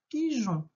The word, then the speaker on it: pigeon: Un pigeon. D'accord, avec la lettre E qui aide à faire le son J.